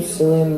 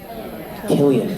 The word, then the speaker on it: Cillian: How do you say his name? Cillian Murphy? Killian. See, that's what I always mess up.